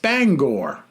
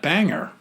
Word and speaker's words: Bangor: says and my pet peeve Bangor Maine is pronounced Bangor not Banger I don't pronounce it Banger I say Bangor